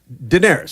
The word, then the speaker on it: Daenerys: a mugger yes true what's your point you pronounce the queen of the Dragons how do you say her name Daenerys Daenerys Targaryen Tara garyun Mogga or melaka look